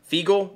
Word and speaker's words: Feagle: everything thank you um make sure i say this right feigl f-e-a-g-l-e i think that's how you say it thank you guys